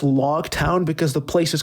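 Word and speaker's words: Loguetown: one thing I want to mention too is log Town's name real quick it's pronounced log town because the place is called the place of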